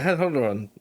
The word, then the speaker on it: Hadhodrond: Oh yeah, Hadhodrond. Yeah. They definitely use Khazad-dûm and Moria in the films. Hadhodrond is how it'd be pronounced.